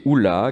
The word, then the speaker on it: hola: d'oc, et il vient du mot hola, qui est prononcé oula, qui est traduit par marmite dans le dictionnaire languedocien de Pierre-Augustin Boissier de Sauvage.